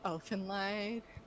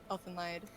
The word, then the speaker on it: Elfenlied: So, did any of you watch Elfenlied?